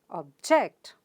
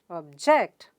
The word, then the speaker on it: object: word object object and the second syllable gets stress that means jaw sound gets stressed and therefore you pronounce it as object object the stresses on j